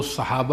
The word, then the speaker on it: صحابہ: افصح جو تلفظ ہے وہ صحابہ ہے، صاد پر زبر فتح.